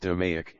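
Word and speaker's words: DMAIC: It became the gold standard for datadriven performance improvement to maic framework define measure analyze improve controlled maic pronounced doic is the structured five-phase problem solving methodology central to six sigma.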